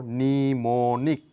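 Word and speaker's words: mnemonic: কোন উচ্চারণ নেই যেমন এটা এম নিউমোনিক বলতে পারি না এম নিউমোনিক নয় এখানে এম লেটারটির কোন সাউন্ড নেই তাহলে বলবো নিমোনিক নিউমনিক মানে স্মৃতি সংক্রান্ত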